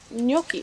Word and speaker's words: gnocchi: I didn't say Yeah. the G. I said gnocchi. Gnocchi. It's like a y sound, not a sound. Like yonky. It's like N-Y.